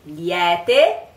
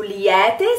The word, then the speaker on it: liete: You will hear this word liete is very often also pronounced liete, liete, because a lot of singers that are from the north of Italy, they pronounce it with the E with an E like this. So the correct pronunciation should be liete, but I'm one of